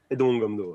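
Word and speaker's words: Haedong Gumdo: Et tu es 3e dan de Aidong Gumdo, je prononce bien. Aidong Gumdo, ouais.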